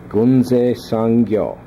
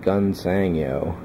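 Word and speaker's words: Gunze Sangyo: And this is my first kit from Gunse Sangyo, or as the Americans would probably say it, Gunsangyo. And even then, I'm sure the Japanese pronunciation I've got there is going terrible. It's Gunse Sangyo, yeah. But I'm saying it terribly.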